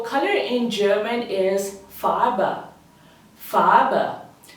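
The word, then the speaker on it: Farbe: in German is Fara farba think of saying far but with a very softened R and add it with a B so it becomes FAA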